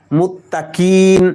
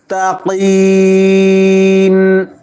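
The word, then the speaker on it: مُتَّقِين: তিন আলিফ টানতে হবে মুত্তাকিন অনেকে বলে মুত্তাকিন মুত্তাকিন বললে উচ্চারণ হলো নাকে সুন্দরভাবে উচ্চারণ করতে হবে মুত্তাকিন মুত্তাকিন যেন না হয় মুত্তাকিন হুদাল্লিল মুত্তাকিন মুত্তাকিন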